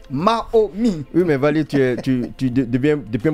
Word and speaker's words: Maomy: J'ai bien prononcé Mahomi.